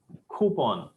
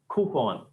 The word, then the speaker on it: coupon: is not it is if you want to sound more like a native coup say coupon coupon sound should should have a visp of air coming outside coupon if you